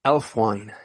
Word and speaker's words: Aelfwine: The word is Elfwine. It's spelled Aelfwine.